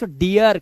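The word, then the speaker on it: deer: अब जैसे डीर, अब इसे डीर नहीं पढ़ेंगे इसलिए पढ़ते हैं डियर, क्योंकि लास्ट में आर आ गया।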